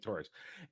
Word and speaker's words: Tuaregs: They get picked up by how do you pronounce it? To the the Tuaregs. Thank you, Tuaregs.